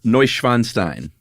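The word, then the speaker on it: Neuschwanstein: Do you want to know the German pronunciation? I just gave it uh Novanstein.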